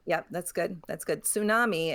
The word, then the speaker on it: tsunami: Tsunami, except that the T kind of is pronounced. Yeah, that sounds tsunami. That's pronounced because it's from the Japanese. It uses the character tsu, which uses the T.